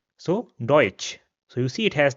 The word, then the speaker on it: deutsch: The next combination is t sa and this is pronounced similar to the English ch combination. We see this combination in English in the word cheese or chair. So in German an example will be deutsch which means German.